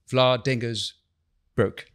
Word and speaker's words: Vlaardingerbroek: scholar, a journalist, and a political commentator, Eva Vlaardingerbroek. Yeah, good. Did I pronounce correctly?